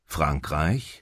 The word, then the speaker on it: Frankreich: আর এরকম করে উচ্চারণটা করে। এটা কথা বলতে বলতে আপনার হচ্ছে ক্লিয়ার হয়ে যাবে। Dänemark, Dänisch. Großbritannien, Englisch. Frankreich, ফ্রাঙ্করাইশ Französisch.